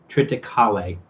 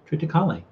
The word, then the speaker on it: triticale: sometimes in star trek they pronounce it with kalei at the end triticale triticale that's almost what i was